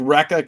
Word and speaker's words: Recca: It is called Recca Comics, and it is pronounced just that way.